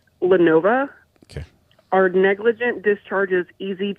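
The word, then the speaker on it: Lenovo: I think it's pronounced Lenova.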